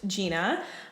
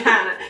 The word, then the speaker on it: Gianna: It's spelled like Gianna, but it's pronounced Jeanna. And I do makeup. Gina. Gina. You got me Gina. Call me Gianna.